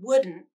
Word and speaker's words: wouldn't: Now the word wouldn't, which can be pronounced exactly the same as wooden, using nasal plosion in the final syllable, but you add a stop T at the end, and the final syllable is a little shorter.